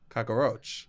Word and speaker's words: cockroach: was raised with cockroaches you add a syllable what you go cockroach cockroach he's a cockroach cockroaches you had a a roach I think I do too but it is just cockroach two syllables yeah of course I